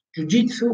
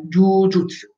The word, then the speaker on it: jujutsu: Intanto vi dico, non è jujitsu, ma è jujutsu.